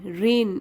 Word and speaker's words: rein: लेकिन यही देखिए REIN, रेन, इसको भी रेन बोलते हैं लेकिन ये क्या होता है, रेन इन द हॉर्स।